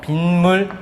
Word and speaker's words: 빗물: 어떻게 발음되냐면 빈물이라고 해서 빈물 빈 물로 발음되니까 니은 소리 덧났다라고 얘기할 수 있겠지 그지?